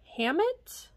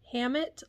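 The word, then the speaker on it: Hammitt: item that I got this is the brand Hammett see if I can get a little closer here Hammett Los Angeles so in case you couldn't see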